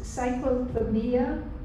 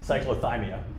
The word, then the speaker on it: cyclothymia: hannah gould and um excuse me if i mispronounce this drug does cyclophobia say cyclothymia dicyclothymia occur along with bipolar what age group